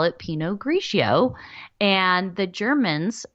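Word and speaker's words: Pinot Grigio: for gray so that's the Italians call it Peno graio and the Germans call it grow bur Gunder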